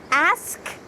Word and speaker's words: ask: Next is ask and ass. You want to make sure that you have a clear k sound at the end.